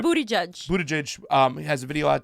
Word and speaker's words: Buttigieg: Buttigieg, I say his name wrong. Everybody Buttigieg. says his name wrong. It's Right. Booty Judge.